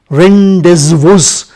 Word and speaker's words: rendezvous: Rendezvous is a French word to be pronounced rendezvous, meet you.